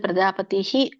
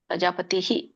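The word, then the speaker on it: ಪ್ರಜಾಪತಿಃ: ಏಚಕಾಮದು ಹರೇ ಕೃಷ್ಣ ನೀವು ಇಲ್ಲಿ ಪ್ರಜಾಪತಿ ಅನ್ಬೇಕು ಒಂದು ಇಲ್ಲಂದ್ರೆ ಪ್ರಜಾಪತಿಹಿ ಅನ್ಬೇಕು ಪ್ರಜಾಪತಿ ಅಂತಂದ್ರೆ ಅದು ಅಲ್ಲಿ ತಪ್ಪಾಗುತ್ತೆ ಪ್ರಜಾಪತಿ ಪ್ರಜಾಪತಿಹಿ ಸ್ವಲ್ಪಹ ಕೇಳಿಸಬೇಕು ಇಲ್ಲಂದ್ರೆ ಪೂರ್ಣ ಕೇಳಿಸಬೇಕು ಇಹಿ ಪ್ರಜಾಪತಿಹಿ ಸರಿ ಓಕೆ ಹರೇ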